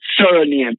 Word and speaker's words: surname: But when you look at the word surname s u r n a m e but the pronunciation is s i r sir because you have the